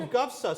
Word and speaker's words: GUFSA: so i actually know their acronym it's pronounceable it's on alphabet soup fbsa come on people you know okay so gufsa so paolo you're with